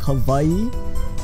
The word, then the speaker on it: Hawaii: you can see it Hawaii the way I stand with the W in Hawaii the W is turned into like a V sound so it's more like Hawaii but there's actually supposed